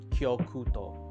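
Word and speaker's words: 極東: And the pronunciation for Far East is Kyokuto.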